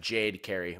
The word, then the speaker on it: Jade Carey: it's pronounced Jade Carey. We have confirmed now. Someone got a pronunciation guy, Jade, didn't you? Jade like shade and Carey like Terry.